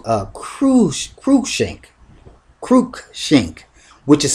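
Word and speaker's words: Cruikshank: versus kren shank K uh CR kru shank Kook shink which is spelled c r u i k s h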